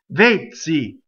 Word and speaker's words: vezzi: Notice that the E is closed. Vezzi.